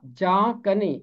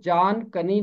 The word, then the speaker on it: جاں کنی: میں ہے جاں کنی، اس کا تلفظ ہوگا جاں کنی، اس کو جان کنی نہیں پڑھیں گے، جاں کنی۔ اس کا